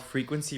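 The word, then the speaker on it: Freakquency: It's called Frequency Radio, but it's spelled Freak, F-R-E-A-K, and then Quincy, Q-U-E-N-C-Y.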